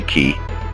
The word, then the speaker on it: Quay: third world kremke yeah it looks like it should be pronounced quay but it's actually key whatever so thanks for